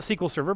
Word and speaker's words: SQL Server: another one see sequel server that's Microsoft's they pronounce it sequel server but there's kind of a history there if